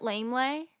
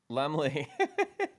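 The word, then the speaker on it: Laemmle: So, I they're showing it at very few theaters, so I had to go to I think it's pronounced, is it Lamely? Lemley. Lemley.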